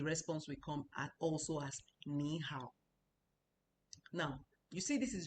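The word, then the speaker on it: 你好: No, it's nihow. Nihow. That's the way it's pronounced.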